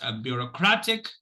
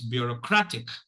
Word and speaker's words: bureaucratic: It's bureaucratic, and this is how it, so there is a secondary stress, and it is on the first syllable. So it's bureaucratic.